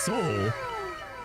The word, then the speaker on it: Seoul: It's Seoul.